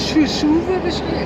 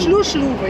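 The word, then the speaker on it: Hluhluwe: Ja, und man muss dazu sagen, der Schuschluwe, der wird ja ganz anders, wird ja anders geschrieben, der wird ja mit H geschrieben. Aber er wird Schuschluwe ausgesprochen. Schluschluwe, ja, Entschuldigung, Schluschluwe wird da ausgesprochen hier.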